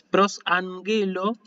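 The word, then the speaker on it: προσαγγέλλω: La siguiente palabra, prosanguelo, ¿sí? Fíjense, ahí tal vez se les haya pasado que esto va con doble gama, ¿sí? Es prosangelo. Fíjense que la doble gama siempre se pronuncia NG, así.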